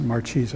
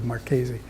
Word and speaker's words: Marchese: of Sebastiano Marchese, and they pronounce it Marchese over here now, but his name is actually Marchese.